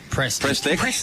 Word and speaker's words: Prestek: whose intrepid reporting has found out the correct pronunciation. Prestek. Prestek. With the ball in hand now. Prestek. Yeah, not pre. Press stick.